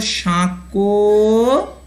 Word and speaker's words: সাঁকো: দন্তস্বয়ে চন্দ্রবিন্দু, দন্তস্বয়ে চন্দ্রবিন্দু দিলে সাঁ, এই যে উচ্চারণটা হচ্ছে নাকি সুরে হচ্ছে, তাহলে এটাকে আমরা বলবো সাঁকো সাঁকো আছে, আ ছয়কার আছে, সাঁকো আছে।